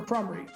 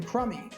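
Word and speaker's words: Krumrie: no respect whatsoever for crumry saying that he had no idea who he was and then mispronouncing his name to make it sound like tim crummy rafferty was about to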